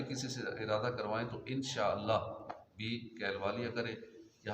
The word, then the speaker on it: انشاءاللہ: اس کا مطلب ہے۔ اکثر لوگ اس کا تلفظ غلط ادا کرتے ہیں اور صحیح ادا کرنے کی مشق کرنی چاہیے۔ انشاءاللہ، انشاءاللہ کہ کہتے ہیں انشاءاللہ، شاءاللہ نہیں ہے، انشاء آگے اوپر مد ہے، انشاءاللہ۔ نارمل کیا پڑھتے ہیں؟